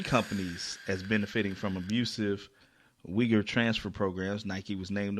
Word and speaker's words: Uyghur: apple was linked to forced labor from the uyghur people in China I think that's how you pronounce it it's the one that start with